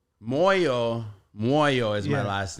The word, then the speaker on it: Moyo: all right she's like your last name sounds a lot like the word moo I'm like that's exactly how you pronounce it and means heart and